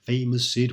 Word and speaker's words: famoused: Note, of course, that famoused is pronounced with 3 syllables, famoused, whereas warrior is pronounced contracted with almost only 2 syllables, warrior.